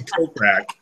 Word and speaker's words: Kokrak: first podcast we did I pronounced his name rack but Jason kokrak it's 35 to 1